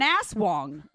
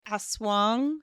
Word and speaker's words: aswang: They are a type of aswang in the culture, which The means fuck is an asswang? But what is an asswang? It's an evil spirit. I think it's more like aswang, not an aswang.